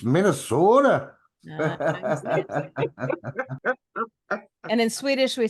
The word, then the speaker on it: Minnesota: You're not saying it right. Uh-huh. It's Minnesota.